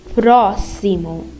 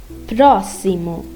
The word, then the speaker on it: próximo: And when X is at the middle of a phrase, it's pronounced as S, like próximo, próximo.